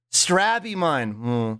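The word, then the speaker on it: Strabimon: molding baked bread substance I usually pronounce straw Beamon like stab with an R so hearing slow the way slug says it makes you think some kind of strawberry Digimon like stab strab Iman yeah I say strawberry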